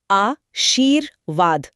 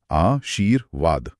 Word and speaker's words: आशीर्वाद: इसका नियम है कि ये जिस अक्षर पे लगा होता है, इसका उच्चारण हमेशा उससे ठीक पहले होता है। अच्छा। तो शब्द को धीरे-धीरे बोल कर देखिए। आ शीर वाद आ शीर वाद हां र की आवाज व से ठीक पहले आ रही है।